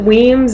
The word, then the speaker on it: Wemyss: really likes will Weems notice we pronounce it Weems it goes back to some Scottish Earl or something here's a picture of